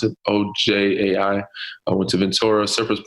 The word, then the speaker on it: Ojai: in Ojai, I think that's how you pronounce it, Ojai.